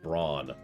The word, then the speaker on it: Brone: Actually, what's really funny is that's probably supposed to be pronounced brawn. Because bronze.